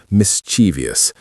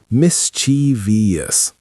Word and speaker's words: mischievous: Now, it is usually pronounced mischievous, mischievous, with the main stress on the first syllable.